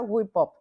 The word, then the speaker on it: GÜIPUP: va nada mal pronuncia Wi poop O sea hay un una frase en inglés que significa construir que se dice whip up como la whip cream Y entonces Esta es